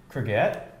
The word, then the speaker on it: courgette: Courgette?